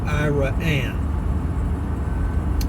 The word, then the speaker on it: Iraan: thousand people here in Iran Texas it's i a a n it's pronounced iraan for Ira and and